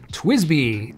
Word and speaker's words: TWSBI: a grand tour of the fountain pen manufacturer twisby twsbi and that's how it's pronounced in case you didn't know I'm going